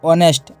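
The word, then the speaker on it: honest: एन लगा सकते हैं दूसरा देखिए जिन शब्द में एच साइलेंट होता है उनसे पहले भी एन का प्रयोग किया जाता जैसे an year an year an ऑनेस्ट एन ऑनेस्ट girl an hour जब कोई शब्द एच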